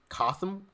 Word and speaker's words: Cotham: And now I believe in North Carolina, where I think the way you pronounce her name was Cotham.